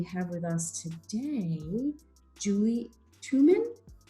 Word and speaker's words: Tuman: with us today julie twoman how do i pronounce your last name that is how you pronounce it and she is the